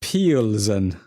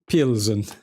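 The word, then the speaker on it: Plzeň: I think it's pronounced PLZEN. PLZEN.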